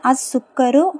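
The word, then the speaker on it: السكر: sentence பாருங்க அஸ் சுக்கரோ சோ இங்க எல்லாம் நீங்க என்ன கவனிக்கணும் லாம் உச்சரிக்கப்படல ஏன்னா அடுத்தடுத்த லெட்டர் வந்து அந்த லாமுக்கு உள்ள அடுத்தடுத்த லெட்டர் வந்து ஷம்சியாவுடைய எழுத்தா இருக்குது அதனால எங்கேயுமே வந்து லாம் உச்சரிக்கப்படல சரிங்களா அதை வந்து மனசுல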